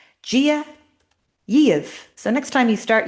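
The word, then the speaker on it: Dia daoibh: So, Gia, a BH at the end of a word like an MH sounds like the consistently. Gia. I'll write that in the chat. Gia Yev.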